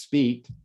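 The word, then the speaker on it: Spite: 2.3 is called the speed plateau it's named after two french astronomers whose name is spelled s-p-i-t-e and it's pronounced speed okay and you can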